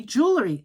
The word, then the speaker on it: jewelry: And it's jewel. J O O L- R Y.